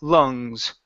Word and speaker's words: lungs: is uh lungs here instead of saying La lungs with an a sound it's uh uh uh L lungs lungs okay good good all